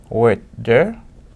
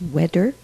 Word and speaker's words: weather: This letter combination is pronounced as a "d" in Michael's native Haitian Creole. You heard the substitution in his pronunciation of weather as wedder, and on the previous list father as fadder.